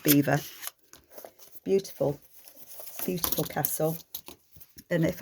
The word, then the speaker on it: Belvoir: road from us so spelt belvoir b-e-l-v-o-i-r belvoir but it's pronounced beaver beautiful beautiful castle and